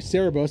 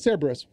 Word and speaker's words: Cerberus: think that cerberus um oh sorry cerebus is that right no it's cerberus i'm tripping myself out